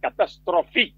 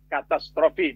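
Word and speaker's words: catastrophe: Salah satu di antaranya ada perkataan dalam bahasa Inggris katastrof. Pakai e di belakangnya. PH dibaca katastrofi bukan katastrof.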